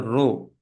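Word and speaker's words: ρ: This is not P. This is pronounced as row.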